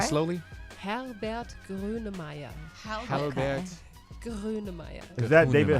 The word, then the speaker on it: Grönemeyer: How about Kunemeyer? Herbert Grönemeyer. Yeah. Wait, I think I've heard of him. All say it right. slowly. Herbert Grönemeyer.